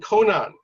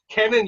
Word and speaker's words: Cannon: So you were saying Conan. So you know, Conan is a very famous comic character, like Conan the Barbarian. So it would be Cannon, not Conan the Barbarian.